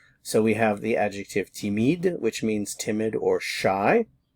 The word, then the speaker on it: timide: We have timide and timide. Notice the pronunciation is all the same.